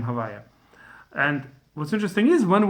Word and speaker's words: הויה: Since we can't pronounce it outside the temple, instead we say Havyah, a different permutation of the same name.